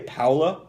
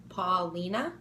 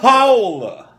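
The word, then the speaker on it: Paola: is po paa p a o l a Paula Paula how do you say that Paulina no where the are you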